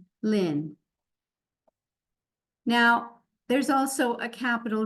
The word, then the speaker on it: Lien: This name, you don't really hear the E. Pretend it's spelled L-I-N, Lien.